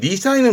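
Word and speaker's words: 二才: 발음은 니사입니다. 이 니사이는 뭘 의미하냐면 이겁니다.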